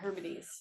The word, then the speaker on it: Hebrides: Hibernian, The outer Hebrides Hebrides.